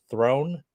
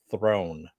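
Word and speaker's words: Theron: And they said it sounded like throne, so that's what I want to throw out there.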